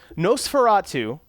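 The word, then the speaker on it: NOS4A2: I'm working on a show called them noce Nosferatu but it's not spelled like you would think I think it's a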